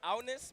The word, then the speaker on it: Agnes: fun fact for Agnes, her name is pronounced Agnes, but our mouths don't really Agnes.